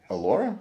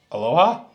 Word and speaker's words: Allora: we have the ultra allora is that how do you say that Aloha no allora allora delicious we will be